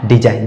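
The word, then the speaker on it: design: बाद एन आया और इसमें भी जी का उच्चारण नहीं होगा और सीधा-सीधा इसका सही उच्चारण हो जाएगा डिजाइन डिजाइन का मतलब होता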